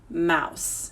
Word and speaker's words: mouse: Mouse. Here are the sounds. Ow, s, mouse. And what's tricky is that this word has a silent letter at the end.